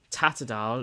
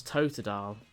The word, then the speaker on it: Totodile: I was still gonna get the rest of this lot as well, but Tatadile, it's Totodile. Well, what do you mean to say? Totodile? Totodile. That's how you say it.